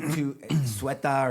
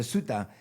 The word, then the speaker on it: Ceuta: And they swam 300 meters to Ceuta or Cueta. I mean, maybe I'm pronouncing it like a Mexican instead of like a Spanish person because they have that. Ceuta. Ceuta. Yeah, but Okay. in Spanish it would be Cueta, but I mean, got it.